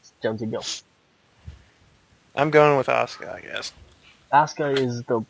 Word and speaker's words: Asuka: Champa match number four how do you pronounce this ASA ASA I keep think it's auka it's like it's like shinsuke Nakamura you just don't say the you just Asuka Asuka versus Dana Brook